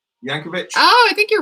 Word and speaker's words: Yankovic: your former video editor named yankovic spelled with a j yankovic oh i think you're